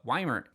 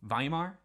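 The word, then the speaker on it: Weimar: During World War I, known as the Wymer Vimar, I always forget they pronounce it with a V.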